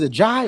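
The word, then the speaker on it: A'ja: I don't know if it's a Jai or AJ or a Jai. Is it a Jai Wilson? How you pronounce her Oh, name?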